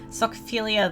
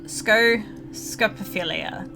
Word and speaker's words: scopophilia: and succumb to the socophilia that has plagued my existence for years, rather. Did I don't think I mispronounced that. Scopophilia. Did I say scopophilia? I don't even know what I said.